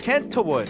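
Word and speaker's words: Kentwood: name is oh really kent wood the t is silent and you're going to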